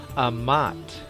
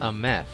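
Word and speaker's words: אמת: So we can clearly see the AMT can be pronounced as Amat. In Hebrew, it's pronounced Ameth.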